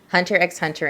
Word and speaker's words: Hunter x Hunter: The X is silent.